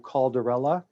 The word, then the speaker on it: Calderella: Let me just start by saying my name is actually Andrew Calderella. It's like Cinderella.